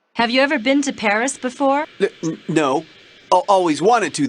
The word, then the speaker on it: Paris: capital of france before yeah well the locals pronounce it paris carmen's conducted a lot of criminal activity here